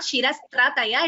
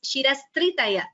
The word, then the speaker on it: Shirastritaya: Just a second, it is not Shirastrataya, it is Shirastritaya.